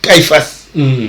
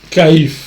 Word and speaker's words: Caïphe: Cette phrase, quand Jésus l'a prononcée devant Caïphas, c'est Caïphe, n'est-ce pas?